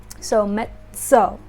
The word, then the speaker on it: mezzo: Think of that like pizza. This is an Italian pronunciation. The ZZ is za. So mezzo.